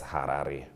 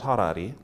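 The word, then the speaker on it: Harare: exactly only one issue she pronounces harar as Harari brook let's fix that let's fix that it's not Harari it's harar we are together thank you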